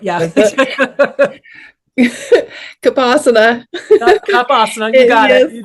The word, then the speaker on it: Cuppasana: Cuppasana, you got it.